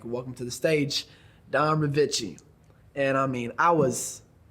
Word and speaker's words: Ryvcko: So before you were Don Ryvcko, and it is Don Ryvcko, right?